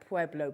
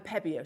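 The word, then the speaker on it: Pébéo: hour to talk about pueblo pens and incorporate them into our jewelry making needs um pebeo sorry beg your pardon i pronounce it wrong uh posca pens at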